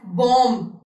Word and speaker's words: bomb: Okay, you will not say B-O-M bomb, B-O-M-B as bomb. You will say bomb.